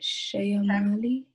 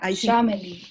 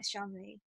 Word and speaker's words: Shamali: I might be butchering your name, but Shayamali? Family, actually. How do you say it? Family. Shamali. Okay. I mean, I hope I'm saying it right this time. Shamali, are you here? Yeah, it's Shamali.